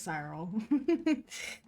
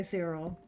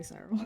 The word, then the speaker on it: Cyril: I pronounce it as Cyril. But a lot of people say Cyril. So I don't know which one is correct technically, but I say Cyril.